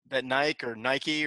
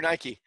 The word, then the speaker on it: Nike: How do you say it? Nike or Nike? Nike. Hey, there you go. I guess it depends where you come from. I think this is a transatlantic thing, isn't it?